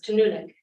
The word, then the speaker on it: Inuvik: Just one pronunciation to help SAO shout, it's Inuvik.